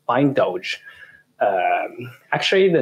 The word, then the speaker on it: Bindoj: about the name uh why is it called bind OJ well or another question is why do we pronounce it by indulge um actually the name